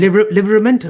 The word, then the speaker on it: Livramento: Livramento, wasn't it? Livramento? Yeah, he's a right back though. How have you pronounced that?